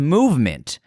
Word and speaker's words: MVMT: With fair prices, unexpected colors, and clean original designs, MVMT, pronounced Movement, grew into one of the fastest growing watch brands, shipping to over 160 countries across the globe.